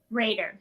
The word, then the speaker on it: Rader: How do you say your last name? Is it Rader? Raider, yes. Perfect.